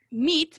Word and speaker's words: meat: Entonces, meat, para decir carne, es una i y súper seco.